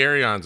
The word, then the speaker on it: Aeron: I would like to point out that John Preto cannot be an Aeron fan because he doesn't know how to pronounce it. It's Aeron. To get off.